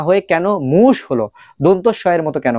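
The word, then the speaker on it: муж: এটার উচ্চারণ হওয়ার দরকার ছিল মুজ। বাট মুজ না হয়ে কেন? মুশ হলো।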